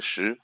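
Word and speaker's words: 石: And meanwhile, the person, okay, I've just taught his family name is Shi. It's in Chinese, it's like stone, but it's pronounced like Shi.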